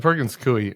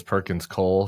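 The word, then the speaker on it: Perkins Coie: even on this podcast I've been pronouncing this Perkins Cole for like 20 years I don't know there's just something about my eyes where it just looks like it should be Cole and like I don't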